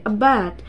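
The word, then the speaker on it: abet: And the pronunciation will be a bat. So don't say a bat.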